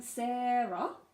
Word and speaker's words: Sara: to write I um Sara just make sure that first syllable has that Sara the stress on it then we have